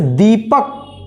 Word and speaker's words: दीपक: और वहीं थोड़ा सा इससे ज्यादा तो क्या कहेंगे इसको बड़ी ई की मात्रा, जैसे दीपक, द में बड़ी ई की मात्रा दीपक, दीपक।